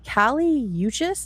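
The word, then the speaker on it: Kali Uchis: So, in the days following this discovery, we have uh Kaliuchis, is that Yucas? Is that how you pronounce her name?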